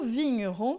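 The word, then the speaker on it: vigneron: coisa interessante que é esse gn aqui em francês vai ter sempre som de nh tá l vinhon lavin din inon todas as vezes que tiver gn em francês você vai pronunciar como se fosse nh em português Mon pinh.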